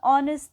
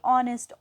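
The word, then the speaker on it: honest: तो यहाँ पे क्यों है ऑनेस्ट, तो जो यहाँ पे एच है वो साइलेंट होता है, जो साउंड है वो किसकी आ रही है, ऑनेस्ट, ओ की साउंड आ रही है।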